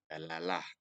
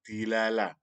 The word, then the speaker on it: dalalah: Nah, kalau di dalam ilmu mantik, istilah yang terkenal adalah dalalah. Ada juga yang mengatakan dilalah. Tetapi forum ini lebih nyaman menggunakan atau membacanya dengan istilah dalalah.